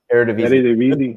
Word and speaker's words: Eredivisie: Eredivisie.